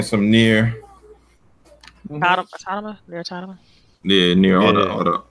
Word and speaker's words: Automata: Yeah, Nier Automata. It's Automata. Automata. They say it in the game, so now I know how to pronounce it.